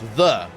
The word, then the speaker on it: ye: like ye oldie tavern ye is pronounced the so it ye oldie anything is is wrong. It's the old tavern. The old bakery.